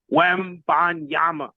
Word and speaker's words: Wembanyama: When you say his name, make sure you get all the syllables right.